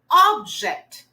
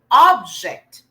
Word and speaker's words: object: same, spell the same, if it's a noun, usually the stress is in the first syllable, okay? Primary stress. Object versus a while back, it's a verb, object. So the stress is more on the jet, not the object, okay?